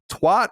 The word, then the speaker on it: twat: Twat is pronounced with a sharp T like bat, not a nimby-ot as in bot.